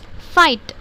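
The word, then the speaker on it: fight: और फाइट, फाइट, ये आके आपको GH साइलेंट हो जाता।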